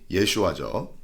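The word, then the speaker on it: ישוע: 여호수아의 히브리 발음이 예슈아죠.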